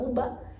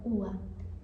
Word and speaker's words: uva: consegue ver na nuance, na pronúncia da pessoa que você falar UBA, você já sabe que, né, não é não é nativa de argentino. Então, ua, ua.